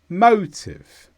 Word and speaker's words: motive: is a noun and the stress is on MO motive this means the reason for